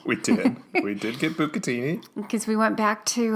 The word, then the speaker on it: bucatini: in follow-up about bucatini the reason why i pronounce it book a teeny is not to be um insensitive to italian-americans it's because i'm making fun of tiata de laurentiis you're making fun of